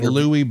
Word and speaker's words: Lewy: Am I pronouncing it right? Lewy body dementia?